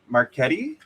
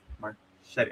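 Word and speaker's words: Marchetti: I'm pretty sure I'm I I always mispronounced Shirou's uh name Marquetti. Marchet. I'm sure I'm sure my my friend my friend Lucy always sends me a voice note saying it's pronounced Marchet and I'm like tomato tomato.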